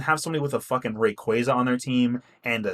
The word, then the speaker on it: Rayquaza: It's pronounced Rayquaza. When I was a kid, I called him Rayquaza, but his name is actually Rayquaza, which I kind of think sounds cooler because it's like Quasar, which is where they pull his name from.